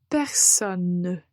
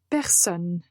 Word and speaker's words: personne: du mois essayez d'être le plus calme possible personne personne donc en prononce et en un temps clairement la lettre